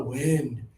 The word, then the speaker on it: wind: It is just a word in English that people accidentally say with bad pronunciation when they're trying to say this one, okay? The weaned outside is very strong.